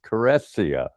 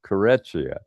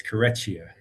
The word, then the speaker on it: Careccia: and for a while, somebody had told me that you pronounce it just as Caressia, with just an S sound. Before that, I had been pronouncing it Careccia, or Carescia, like more of an SH. Say it officially. You were more correct, Mayor. It's Careccia. Yeah, so it does have the CH sound.